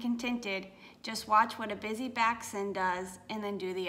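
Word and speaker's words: Bisy Backson: It's like, enjoy where you are, because they talk about this this idea of the, is it pronounced busy back son?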